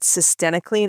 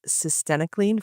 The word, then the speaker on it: cytisinicline: About cytisinicline. If anyone wonders how to pronounce it, it rhymes with varenicline. This was a article titled Cytisinicline for Smoking Cessation, the ORCA Phase 3 Replication Randomized Clinical Trial.